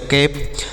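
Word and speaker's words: cap: bad next देखते हैं सी ए पी तो सी से लिखेंगे क और ए का उच्चारण ए की मात्रा और पी से प तो ये हो गया कैप तो ए का उच्चारण ऐ की मात्रा तो इस तरीके से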